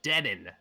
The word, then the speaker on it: Deen: his name is actually Deen de mid laner yeah like denim but with an N thank you Sheamus there